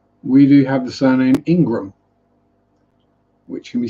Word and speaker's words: Ingraham: One is Ingram, so Ingram, and the other one is Ingraham, which technically you'd think therefore should be pronounced Ingraham, but it's actually still just pronounced Ingram.